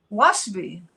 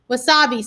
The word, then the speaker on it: wasabi: had something that called for that i said waspi it's asian and then i learned to pronounce it correct well the answer is does